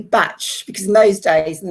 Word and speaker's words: Bach: couldn't pronounce his name say call me batch because in those days